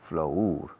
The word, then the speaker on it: flour: Flour, harina, se escribe flour, pero se pronuncia flour, como flor.